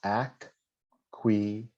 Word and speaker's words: acquiescence: So the way you pronounce it is acquiescence, right? So you just so you can break it down.